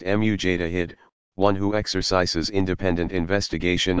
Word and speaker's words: mujtahid: Pronounced mujtahid, one who exercises independent investigation of the sacred sources.